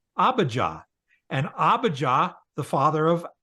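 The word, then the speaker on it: Abijah: was the father of abah abah yeah now if you pronounced it AB or whatever that's it's weird but if you see that h on the end that's an a sound so it's abaja and abaja the father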